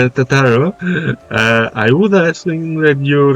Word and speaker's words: Tataru: Tataru? Oh, I don't know why I pronounced her name like that. Tataru, I would ask that you remain at Forton Manor and inform the Count of our decision.